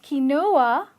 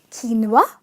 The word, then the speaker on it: quinoa: faster it's pasta ok it's not key Noah it's quinoa say it with me quinoa